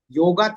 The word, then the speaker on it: yoga: So, what is exactly yoga? As uh we pronounce it yoga actually it is yoga.